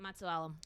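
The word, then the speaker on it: Matusalem: Matsualam.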